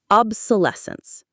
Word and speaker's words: obsolescence: Obsolescence. The main stress is on that less syllable.